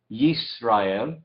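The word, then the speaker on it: ישראל: Israel, aquí decimos Yisrael. Agregamos la yod al principio.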